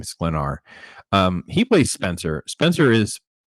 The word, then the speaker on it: Sklenar: Sklenar.